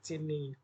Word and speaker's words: cin: Pada bahasa C++, perintah yang digunakan untuk operasi ini adalah cini. Beda dengan output. Kalau output kan cout, outnya itu output. Kalau c ini c input itu bacanya.